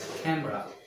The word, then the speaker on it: camera: look at camera ken block can drop two syllables okay camera she got a new camera from japan next